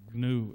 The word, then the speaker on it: GNU: You see, in English, the G in GNU is silent.